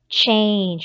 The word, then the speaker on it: change: So this is like, our digraph cha, cha, cha, cha. A, because it's A, consonant sound. E. E is silent. So A doesn't make the A sound. It makes the long A sound.